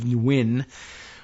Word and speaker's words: Nguyen: And my recollection is that it's pronounced something along the lines of Nguyen, with a little, just maybe touch of N in there up at the front.